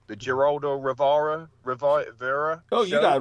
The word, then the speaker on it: Geraldo Rivera: he appeared on, excuse me if I pronounce his name wrong, the Geraldo Rivera Oh, show.